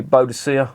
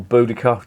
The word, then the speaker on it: Boudicca: perfect and they've got the boducia or boudicca depends how you want to pronounce it named after the